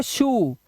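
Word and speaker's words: shoe: बट यहाँ पर एस एच के बाद ओ ई लगा हुआ तो ये हो गया शू।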